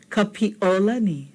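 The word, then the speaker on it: Kapiʻolani: Now you're saying, I heard something in there. Those of you who caught it, listen again. Kapiolani. Okay, do you hear an okina in there? You should. Okay, the okina is between the E and the O.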